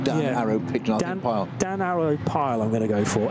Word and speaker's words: Pijl: Pijl, I think. P-I-J-L. And the I and the J in Dutch is often considered to be like the English Y. So I'm going to say Pijl.